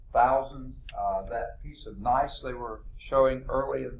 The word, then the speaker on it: gneiss: That was gneiss. Don't pronounce the G. You say nice rock. No, that's gneiss.